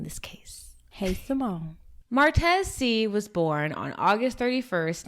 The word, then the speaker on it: Seay: c okay so martez his last name it's pronounced c but it's spelled s-e-a-y just so you guys